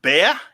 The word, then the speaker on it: Bea: Excited about the Silverline double feature with Bea. Did I pronounce that correctly?